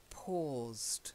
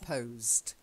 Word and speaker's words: paused: and the next one it's an or sound not an O so it's paused not posed paused holds or say